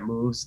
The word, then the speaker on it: MUVEZ: on all social media handles that moves that's spelled m-u-v-e-z uh we're online uh